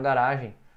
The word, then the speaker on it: garage: Então tá, aqui você está vendo, há uma bicicleta na garagem. A pronúncia de garagem é garage.